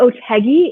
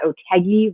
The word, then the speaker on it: Otheguy: I am Otegi. If you're trying to remember later, how do you pronounce that woman's name? You can remember that Otegi rhymes with Peggy.